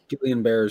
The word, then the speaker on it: Guillain-Barré: different military people that got GBS, which is Guillain, or how you say it? Guillain-Barré syndrome.